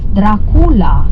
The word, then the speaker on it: Dracula: a Kaa uh Dracula Dracula this is how the the way we pronounce the name in Romania Dracula is actually not